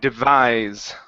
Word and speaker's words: devise: Let's go to uh the word devise instead of devise. Okay, our stress here on this word is at the end. Devise.